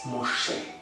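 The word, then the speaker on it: משה: It's Moshe. The dot to the top left of the mem indicates that the pronunciation is Mo.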